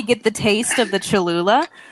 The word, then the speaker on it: Cholula: How is it pronounced? Cholula? It's Cholula.